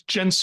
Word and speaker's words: Mencius: guest I think your last name is pronounced jenus is that correct yeah it's genus okay people just